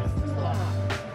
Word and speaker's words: Tulsa: Oh my God, how you say it, Ma? TULSA. Not Tesla, the car.